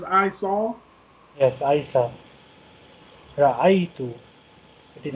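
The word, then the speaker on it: رأيت: Ra'aitu. It is pronounced ra'aitu.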